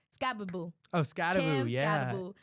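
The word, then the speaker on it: Skattebo: Oh, Scababoo, yeah.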